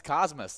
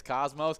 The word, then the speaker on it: Cosmos: That is mostly the mispronunciation is Cosmos, but you got to add the us into it because they like to Cosmos. be. The galactic-themed town might lend itself to pronunciation similar to the space term, but locals refer to the tiny town with the us sound at the end.